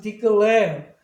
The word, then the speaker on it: declare: 그러면 E 다음에 자음 두 개 있고 액센트가 없으면 E는 E라고 발음해요. 그래서 declare 뭐 이것도 마찬가지로 액센트가 여기 있으니까 뒤에 자음